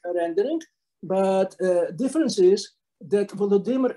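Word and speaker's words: Volodymyr: but difference is that volodymer is pronounced ukrainian way or vladimir is pronounced rashford and nowadays if you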